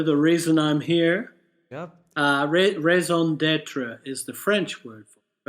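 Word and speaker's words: raison d'être: Yes, Raison d'etre. Yep, perfectly. I was holding myself to the pronunciation.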